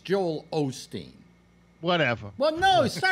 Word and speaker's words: Osteen: one twenty eight one seven yeah well Joel Olsteen is 128 that's definitive proof now Alex yes yeah it's Joel Osteen whatever but no pronouncing things correctly quit sounding